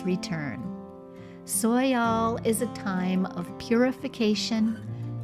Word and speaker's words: Soyal: Among the Hopi and Zuni tribes of the American Southwest, the solstice is marked by the Soyal ceremony, a sacred ritual